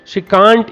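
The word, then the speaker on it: can't: देखो कैसे बनेंगे sentence, she कांट पुट up with his behaviour anymore. वह उसके व्यवहार को और सहन नहीं कर सकती। शी कांट या शी कैंट, दोनों प्रोनाउंसिएशन सही है। आप इसको कांट पढ़े, कैंट पढ़े।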